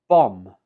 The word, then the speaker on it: bomb: In written English, this is spelled with the letter B, but when we speak it, we omit the B and just pronounce it as bomb. Bomb. There is no B sound.